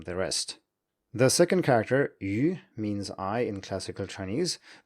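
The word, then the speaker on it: 余: The third character is yu, which also means I in classical Chinese. It can be pronounced yu with other meanings too.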